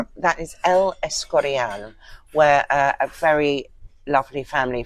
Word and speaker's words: El Escorial: managed to stop at was How do you pronounce that? That is El Escorial, where a very lovely family friend lives with her family.